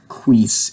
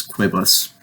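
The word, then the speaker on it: quibus: form for quote it it's not like quees it's quibbles and it will be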